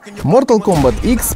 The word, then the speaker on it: Mortal Kombat X: Mortal Kombat X – первый файтинг в серии, который шагнет на Current Gen. Несмотря на то, что это 10-я номерная часть Mortal Kombat, название произносится именно как X.